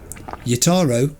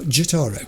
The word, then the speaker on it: Jotaro: I want to call him Yotaro, not Jotaro. It's funny because, you know, I'm told sometimes the J is pronounced as a Y, so I pronounce it as a Y, and then V says it's a J.